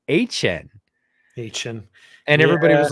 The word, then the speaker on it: Etienne: he came out and said it's actually, this is like 9 months after he was drafted, said, "Well, my family is Cajun, and we pronounce it HN."